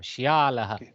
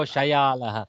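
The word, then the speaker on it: श्यालः: Shyalaha. Okay, don't go Shayalaha because Shayala would be something else.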